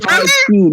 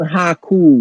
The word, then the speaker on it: Haikyuu: Haikyuu, not Haku.